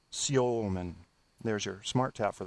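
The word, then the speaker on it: Semin: almost agree with that Alexander Simmon in Russian that's pronounced Alexander San there's your smart tap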